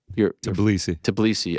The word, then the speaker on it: Tbilisi: And then here's further scenes in Georgia, in the heart of, how do you pronounce it, GC? Tbilisi.